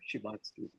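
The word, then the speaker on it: Szymanski: I have it on authority from a Polish speaker and that is how you say the name Shimitski.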